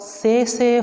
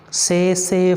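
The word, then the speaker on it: tsetse: is by bite of say say fly say say fly say safe light t is silent the scientific name of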